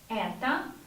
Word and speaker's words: Это: If O is not stressed, we pronounce it like A. Это моя, the same, мама.